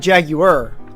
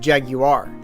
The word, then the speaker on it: Jaguar: you said it was he said Jaguar I said jag you are the you was pronounced I might just specify the U is pronounced you see me not like my phonetic spelling of it not adding other letters that aren't in the word Jaguar is what I said